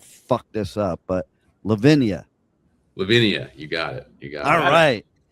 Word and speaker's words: Levinia: Levinia, you got it.